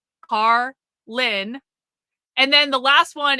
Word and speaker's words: Karlyn: Carlin like George Carlin except spelled way different. Carlin. Carlin.